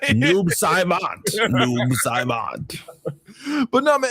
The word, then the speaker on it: Noob Saibot: So I'm under no obligation to pronounce it right. He's Noob Sibbit for right? Noob Saibot.